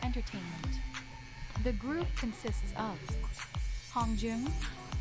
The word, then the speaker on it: Hongjoong: This is how they pronounce their names. My name is Seonghwa. My name is Hongjoong.